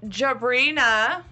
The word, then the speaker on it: Jabrina: So, Jabrina. Mm-hmm. Am I saying it right? Not Sabrina.